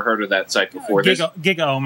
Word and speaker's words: GigaOM: GigaOM, I think it's called. GigaOM is how it's pronounced.